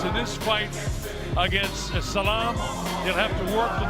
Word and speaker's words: Saglam: Jakob the Scorpion saga he pronounced it without the G Salaam German heavyweight gym Jakob